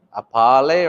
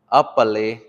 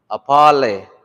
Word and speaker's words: apale: You don't want to say apale because it's spelled with an A. So it's a pa. And then you say le, apale, apale. Because if we want to